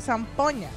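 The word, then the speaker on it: Sanpogna: Se escribe con G-I-N, San Pogna, pero se pronuncia San Poña.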